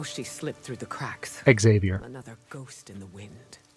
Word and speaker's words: Xavier: Xavier. Another ghost in the wind. 4 syllables.